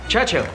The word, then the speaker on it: Churchill: James's visit his Churchill Churchill that's how you say it all together like that I'd heard Church and Hill but couldn't find either all I could see